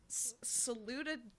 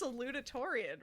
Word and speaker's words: salutatorian: was intentional but like devin you kept saying salutatarian like you saluted like saluted victoria that's what was you added like eight what is it because i said it wrong first time and i was like that's not right that's not good i think it's just salutatorian right oh that sounds correct